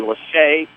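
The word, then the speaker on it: Las'Hae: The name is spelled L-A-S apostrophe capital H-A-E. Lachey Dunn.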